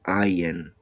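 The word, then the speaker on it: עין: Now the sound or the full pronunciation of this letter is ayin, but you never say the full pronunciation in a Hebrew word. You only say the first sound, I, like the I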